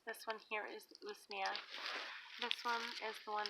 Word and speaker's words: usnea: So this one right here, this is usnea.